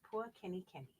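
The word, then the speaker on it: pua kenikeni: And that's pronounced Pua Kenny Kenny.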